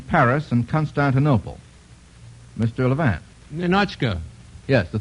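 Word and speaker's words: Ninotchka: pronounced Ninochka or Ninochka, Mr. Ratoff? Ninochka.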